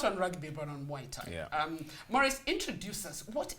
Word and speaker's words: Muay Thai: Today let's focus not on rugby but on Muay Thai. Yeah. Maurice, introduce us. What is Muay Thai? Let's start there. Okay.